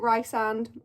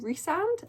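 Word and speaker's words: Rhysand: I pronounce it Rysand. I think I'm correct, but a lot of people pronounce it Rysand. Let me know in the comments which way you pronounce it, but I think Rysand is correct.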